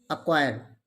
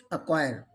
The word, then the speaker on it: acquire: e and d ascend next one is acquire when there are c and q both come with each other then c is always silent acquire x1 is muscle sc